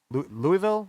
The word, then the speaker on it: Louisville: uh flight to louisville louisville i believe they pronounce it louisville kentucky yeah louisville he is